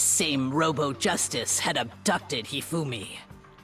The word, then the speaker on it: Hifumi: It also soon became clear that this same Robo Justice had abducted Hifumi. Heumi? Oh, I thought it was Humi.